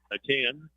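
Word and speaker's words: Ateny: IEA gives it to a 10. It's A-T-E-N-Y. But from what I can gather, the pronunciation is just A-10.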